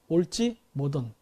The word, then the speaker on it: 을지문덕: 그거는 몽골 발음으로 올찌 모돈입니다. 올찌 모돈.